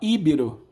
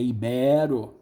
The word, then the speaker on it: ibero: espanhol inglês e ibero-americano muita gente fala ibiru ibirama líbero é ibero tá é aquele que ama